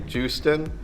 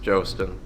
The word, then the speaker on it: Jostin: Some pronunciations, if I can't say it, of my last name are typically Justin is a big one, or Joustin, but it is pronounced Jostin.